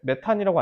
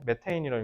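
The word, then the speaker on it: methane: 이거 요즘 너네 메탄이라고 안 읽는다며. 뭐라고 읽는다 했지? 메테인이라고 읽는다. 이거 발음할 때 메세인이라고 해요.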